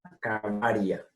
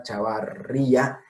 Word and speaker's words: chavaria: Cauna cavaria. No Chauna chavarría.